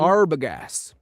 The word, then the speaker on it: Arbogast: Arbogast.